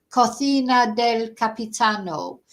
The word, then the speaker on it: Cocina del Capitano: That means something completely different, because cocina is a kitchen, so it's the captain's kitchen. Cocina del Capitano. But if you say cucina del Capitano, it's got a whole different meaning. So very bad pronunciation there, I'm afraid.